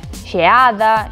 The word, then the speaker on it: xeada: Pois que ese E de xeada pode pronunciarse tan pechado que parece que dicimos xeada, con I.